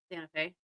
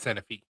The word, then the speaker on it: Santa Fe: Santa Fe. Santa Fe. Is how it's Literally spelled. spelt Santa Fe. Everybody calls it Santa Fe. It's pronounced Santa Fe.